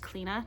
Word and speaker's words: Cleena: If you're thinking that's not pronounced Cleena, yes it is.